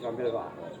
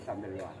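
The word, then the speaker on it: Chambert-Loir: Ya, Henry Sambelwa. Amber Lloyd. Ya, ya bacanya Sambelwa, Henry Sambelwa, bahasa Perancis lah.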